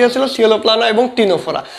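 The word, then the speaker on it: Ctenophora: কী হচ্ছিল সিওলোপ্লানা এবং টিনোফোরা তো দেখো টিনোফোরার বানানটা ইংরেজিতে কিন্তু সি দিয়ে শুরু এটা মনে রাখবা তোমরা তাহলে এখানে উত্তর হবে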